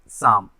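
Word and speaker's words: psalm: इस वर्ड में पी और एल क्या है, साइलेंट है, इसलिए इसको पढ़ा जाता है क्या, शाम।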